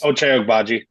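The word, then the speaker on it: Ochai Agbaji: Ochai Ogbaji.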